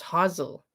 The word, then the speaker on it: Hasel: case of brian vladick i would like to say hazel but it's hazel hazel is how they say it it's 23.